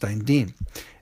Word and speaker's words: Dantian: The medicine bag of health at lower abdomen center uh is pronounced Dantian uh where he came from in Shanghai.